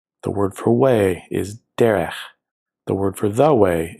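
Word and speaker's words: דֶּרֶךְ: The word for way is derech.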